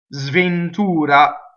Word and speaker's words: sventura: Now, me is a strong monosyllable, so if you notice the sventura.